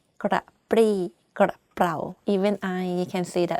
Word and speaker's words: กระปรี้กระเป๋า: If you can't, just say กระปี้กระเป๋า It's not 100% grammatically correct, but people still can be able to understand what you're saying. กระปรี้กระเป๋า Even I can see that I have some difficulty pronouncing this word.